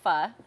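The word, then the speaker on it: phở: it's famous for their pho and it is pronounced pha um it's a vietnamese soup um and they've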